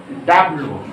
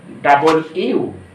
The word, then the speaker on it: W: এটা আমরা বলি ডাব্লু ডাব্লু। আমরা প্রাইমারিতে শিখেছি কি বন্ধুরা? ডাব্লু, কিন্তু এটা সঠিক উচ্চারণ হবে কি বন্ধুরা? এটা সঠিক উচ্চারণ হবে ডাবল ইউ ডাবল ইউ।